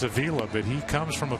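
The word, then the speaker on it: Avila: His father and grandfather were known for the pronunciation Avala. But Alex got so used to people just mispronouncing his last name, he's just embraced it. And now instead of Avala, it's Aila.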